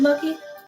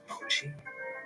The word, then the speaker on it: Mochi: My my Does this place fake your blood from a cold mochi? Moi. Mochi. That's how you say it.